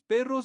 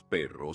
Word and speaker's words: perros: La novia de José tiene 2 perros bonitos. Perros. Perro. Perros. Perros. If you like extend it long enough to roll the R, it kind of helps.